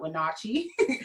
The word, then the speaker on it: Wenatchee: Most people come to Washington State and they call Wenatchee, not Wenatchee, but Wenatchee.